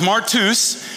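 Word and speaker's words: μάρτυς: mean this is a good one um it's pronounced martus and in the Book of Luke and acts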